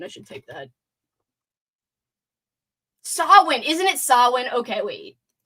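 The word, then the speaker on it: Samhain: Although I can't even say Sam Sam Hayne. Sam, how do you pronounce it?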